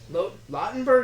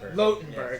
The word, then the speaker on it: Lautenberg: family here of Winners, Glenn Lautenberg or Lotenberg? Lotenberg. Yeah. I've heard it pronounced both ways, but I've never actually figured it out.